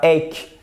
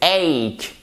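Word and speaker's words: ache: on ne sait pas c'est pas Achille et c'est pas Eck c'est hake ici vous avez une diphtongue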